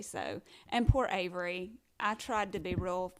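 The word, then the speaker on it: Avri: cute with her name so i have a daughter named avery and it's spelled a-v-r-i and so she gets aubry she gets that's what it says she gets aubrey like it's french and then gillespie can't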